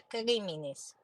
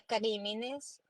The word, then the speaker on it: notitia criminis: así se llama notitia criminis a quien d notitia crimines criminis as se pronuncia es en latín la noticia criminal pues